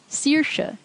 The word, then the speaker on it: Saoirse: AOI also gets pronounced E, as in E or Saoirse.